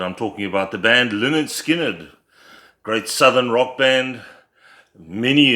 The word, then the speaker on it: Lynyrd Skynyrd: But nonetheless, we're going to chat about their debut album today, pronounced LYNYRD SKYNYRD.